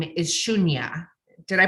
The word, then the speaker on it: Shunya: she's a master teacher and her name is shunya did I pronounce that correctly beautiful yes so good she